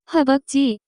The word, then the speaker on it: 허벅지: The pronunciation of this word is closer to 허벅지.